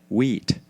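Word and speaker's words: Huit: The family name of the Sisters 8 was Wheat, which is French for 8 and pronounced like wheat, as in cream of, which I hope you never have to eat.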